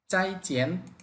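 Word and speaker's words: 再见: ফোরটন পাশাপাশি চলে আসছে আমরা প্রথম শব্দটাকে সেকেন্ড টনে বলার চেষ্টা করব চাইচেন উচ্চারণটা হবে চাইচেন চাই চেন মানে আবার দেখা হবে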